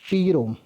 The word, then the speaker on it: PROM: The second one इज पी रोम, pronounce as प्रोम.